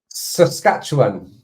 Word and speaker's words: Saskatchewan: Saskatchewan.